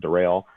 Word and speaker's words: Daryl: I remember talking about my name and the fact that it's spelled like Daryl but pronounced Darrell.